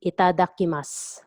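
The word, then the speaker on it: いただきます: And usually if they start eating again, they say itadakimasu. So drop the u sound at the end. Itadakimasu. Itadakimasu. Itadakimasu.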